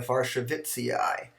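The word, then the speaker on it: warszewiczii: Well, we usually try to pronounce it like a Polish name because it comes from a Polish name.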